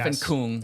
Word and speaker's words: Stefan Küng: Stefan Küng.